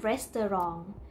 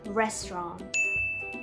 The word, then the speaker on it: restaurant: ะ ไ ม่ อ่ า น ว่ า restaurant เ ร า จ ะ อ่ า น ว่ า restaurant โ ด ย ที่ เ ร า จ